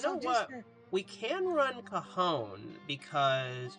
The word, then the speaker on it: Cajon: was younger, I always used to call Cajon Pass Kanjan Pass. That's what I called it. I called it Kanjan Pass as a kid. Yeah, until I realized it was that you're supposed to pronounce it Cajon.